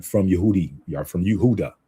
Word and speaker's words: Yehuda: Ba- basically it's like Yehuda Yehuda.